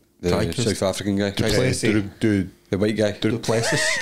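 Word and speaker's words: Du Plessis: Drysis. How do you say that? The Dreykus. South African guy. Duplessis.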